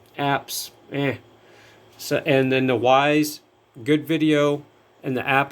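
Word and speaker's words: Wyze: do not get a Wise camera. I want to repeat, if you're getting a wireless camera, indoor or outdoor, from Wise, and how you spell it is W-Y-Z-E, do not get it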